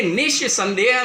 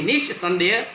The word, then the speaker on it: निस्संदेह: अभी देखिए निस्संदेह में जैसे आपने निस्संदेह शब्द का उच्चारण किया आपने ये ज़रूर महसूस किया होगा कि यहाँ पर श का एक उच्चारण हो रहा है मगर इसका जो उच्चारण है बहुत ही कम हो रहा है और ये दांत से भी टकरा रहा है।